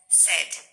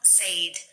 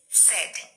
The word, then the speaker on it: said: that is the past form it's renounced as said not said it's said and the same is the case with the